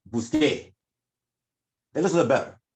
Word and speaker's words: busqué: You can't even pronounce that word in Spanish. The tongue can't even do that. S-C and an E beside each other, it's not right. So then you have busqué, and you just follow that same old thing.